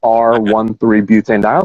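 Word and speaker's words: R-1,3-butanediol: one comma three yeah we we pronounce it r one three so that's the we'll get into this in a second but that's the molecule that's in there r one three butane dial so i called i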